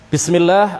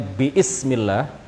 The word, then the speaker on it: bismillah: Alif pada kata ism itu dihilangkan dalam bacaan. Kita tidak membacanya biismillah, ya, kita tidak membaca biismillah, tetapi dihilangkan lafzon secara pelafalan, secara bacaan alifnya tidak dibaca.